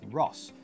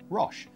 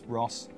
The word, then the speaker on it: RoHS: makers so what is Ross well the first thing is you're going to hear some people pronounce it as Rush they're wrong it's Ross RoHS not our own